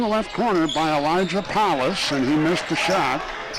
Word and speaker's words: Police: on the left side for lincoln it's elijah palace p-o-l-i-c-e spelled like police pronounced palace drives left side